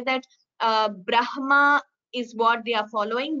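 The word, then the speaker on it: ब्रह्म: Whenever there is a Hkara followed by the Anunasika Aksharas like Brahma, Vanhihi, Madhyanha, there you chant, pronounce the Anunasika first, Brahma, not Brahma.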